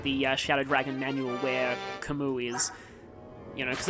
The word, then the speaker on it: Camus: trailer, but I was just like, I've been pronouncing it that way the whole time. Because it's, you know, Albert Camus, the French philosopher, and also the fact that he's Japanese, like in Japanese, it's spelled Camus.